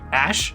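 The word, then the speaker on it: Æ: kid's name again x ash a12 ash yeah that's how you pronounce the symbol in the middle i'm not even joking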